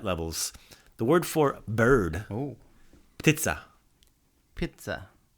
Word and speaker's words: ptica: Not pizza like pizza, but ptica. With a T? Yeah, pizza. Pizza. So it's spelled P-T-I-C-A, P-T-I-C-A, pizza. So like that P is kind of like it's like vermouth in a martini. You think about it, but it's not really there.